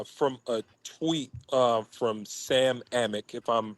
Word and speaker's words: Amick: So, and speaking of the breaking news, this is from a tweet from Sam Amick, if I'm pronouncing his name correctly.